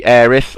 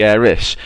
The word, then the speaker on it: Aerith: Well, in the original release of the game, which was in Japan, she was down as Aerith. Now, when they tried to convert that into the US language and the UK language, the TH sound didn't exist to be translated from Japanese, and the closest was an SU sound.